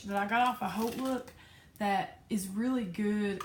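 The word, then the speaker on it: HauteLook: off of H look it is not hot look it is H look I've seen the commercial haven't you that's how they want you to pronounce it they did this whole commercial side note about H look pronouncing it like 50 times in the commercial so I guess they got tired of people calling it hot look or mispronouncing it anyway so I did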